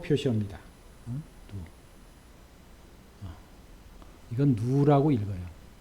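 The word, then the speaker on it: ν: 점성 계수 를 뮤를 일도 롤온 않은가 이걸 누우라고 표시합니다 이건 누우라고 이걸 2 라고 읽고 롭은 의 뷰 우리 로우는 이건 탄이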